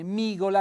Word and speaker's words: migola: Una briciola di pane migola accento tonico sulla i e poi c'è il